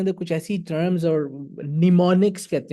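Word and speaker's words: mnemonics: Because उसके अंदर कुछ ऐसी टर्म्स और निमोनिक्स कहते हैं उसको, एम एन, ये नहीं, वो एम पहला साइलेंट है, निमोनिक्स यूज किए जाते हैं।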